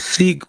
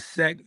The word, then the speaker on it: Seek: I go by the name of Seek. Once again, it's not Sec, even though it's spelled that way.